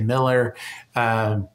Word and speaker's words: Mueller: It's spelled Mueller if you're Googling it online, but we all say Miller.